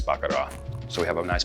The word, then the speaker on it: Baccarat: Now notice I didn't pronounce the T, because my wife, she is French, and says you don't pronounce the T, honey. So it's not Baccarat, it's Baccarat.